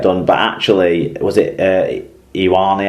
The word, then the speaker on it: Ioane: But actually, was it Ioane, how do you pronounce it? However you pronounce his Mark name. Ione.